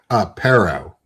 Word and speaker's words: Pero: Pero. Sparrow. Like sparrow without the S. Yeah. Okay, cool. Or parrot without the T.